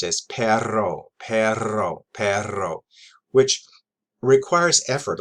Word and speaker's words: perro: um the word for dogs or dogs is p-e-r-r-o and that's pronounced as perro perro perro which requires effort on my part